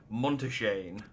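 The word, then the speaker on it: Montichaigne: Skolok Monteshane. He's the head of the studium and an old friend of my grandfather's. And I say I appreciate you telling me how that man's name is pronounced. Monteshane.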